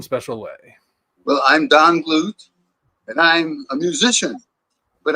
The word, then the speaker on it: Glut: only dinosaur himself dong glute and I got it right this time correct right yeah I am glute quote somebody yep I